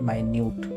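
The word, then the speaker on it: minute: पहले को मिनट पढ़ते हैं जिसका मतलब होता है unit of time that is 60 seconds और दूसरा है माइन्यूट मतलब एक्सट्रीमली टाइनी।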